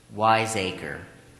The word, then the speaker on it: wiseacre: Wiseacre. And the language of origin? It is a Dutch word. Are there any alternate pronunciations?